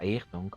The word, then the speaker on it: Ayrton: It's pronounced Ayrton according to my Brazilian friend.